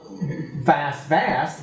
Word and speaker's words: BAST: So we call BAST Vast because it rhymes with blast, and the idea was